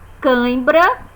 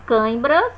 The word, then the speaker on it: câimbra: arrebentar rebentar bêbado bêbado câimbra a pronúncia é basicamente é a mesma câimbra só que uma escrita